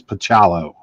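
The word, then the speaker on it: Bachalo: too, and it is Bacalo. Bacalo. Oh, thank you. Yeah. Okay, but I asked him, I said, "How do you say your name?" He said, "It's Bacalo."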